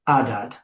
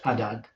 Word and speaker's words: Adad: So it's Adad. So it just doesn't have the aspiration at the beginning, the ha, the wind, it's just Adad.